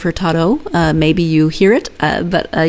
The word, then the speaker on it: Hurtado: And in Portuguese, when there's an O on the end of the word, it's pronounced as an O. And I kept catching myself, and I don't think I caught all of them, saying Hurtado instead of Hurtado.